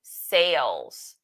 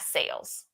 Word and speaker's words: cells: 4, the older client's renal system lose healthy cells. Why did I say it like that? Cells, not sales.